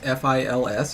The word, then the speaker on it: fils: By the way, have the French told you how they pronounce F-I-L-S? Have you heard this? Is it not fee? Fils. Oh, feast. Oh, they skipped the... Okay. For some reason, I thought both were dropped off.